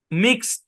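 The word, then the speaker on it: mixed: করতে হবে ভাই আমাদেরকে এই শব্দটা এভাবে উচ্চারণ করতে হবে মিক্স সরি মিক্সড এরকম নট মিক্সড ডি উচ্চারণ হবে না মিক্সড এরকম টি উচ্চারণ হবে বুঝছেন আচ্ছা আরেকটা উদাহরণ দেই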